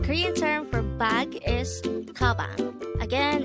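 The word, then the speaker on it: 가방: The Korean term for bag is kabang. Again, it's kabang. This is pronounced with two syllables. The first syllable is ga, the second syllable is bang.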